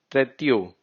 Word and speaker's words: trettio: Even in 30 it's written tretio. So we'll say it treti. O is silent.